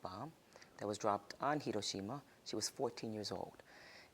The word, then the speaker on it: Hiroshima: And my mom is a survivor of the atomic bomb that was dropped on Hiroshima.